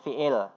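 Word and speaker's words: فعل: Atau kita mudah bacanya fi'il.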